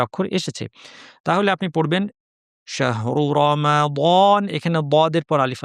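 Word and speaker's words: شهرُ: শাহরু রমাদান শাহরু শাহ শিন জিহ্বা মাঝখানে সুন্দরভাবে বলতে হবে। হা উচ্চারণের সময় খেয়াল করবেন যেন শুধুই বাতাস হয়ে না যায়, হায়ের আওয়াজটা যেন শোনা যায়। অনেকে শাহ বলে ফেলেন, শাহ এভাবে না, শাহ শাহ খেয়াল করে।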